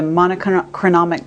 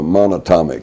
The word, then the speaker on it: monatomic: you know the the the monochronomic gold monotonomic how do you say it the uh it's the single atom gold uh monatomic monatomic gold okay orbitally rearranged monatomic